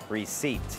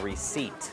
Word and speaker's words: receipt: จะ ออก เสียง ว่า reat ฮะ ตัว P ไม่ ออก เสียง ตัว P is P is a silent Letter in the word receipt โ This is my